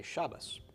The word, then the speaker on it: Shabbat: Okay, so you'll hear Sephardic Jews say Shabbat, and Jews speaking the Ashkenazic dialect say Shabbos. Okay. And a lot of Orthodox you'll hear say Shabbos. All right, so that's Ashkenazic, and the Yemenite have another way.